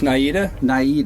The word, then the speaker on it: Naida: Did I pronounce that name right? It's Naida.